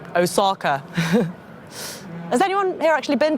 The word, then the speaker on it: Osaka: osaka with my mum my friends pronounce it osaka has anyone here actually